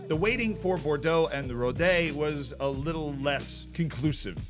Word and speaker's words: Rodez: Well, the chairman for the club, that I have now learned is pronounced Rodez, Pierre-Olivier Marat, he had a bit more of a grim view on things.